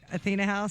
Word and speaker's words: Athena House: Athena House?